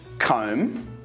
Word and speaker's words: comb: other words with a silent B are bomb comb crumb dumb lamb Lim Nam thumb if you're actually trying to pronounce the b in these words you're not alone many Upper Intermediate Learners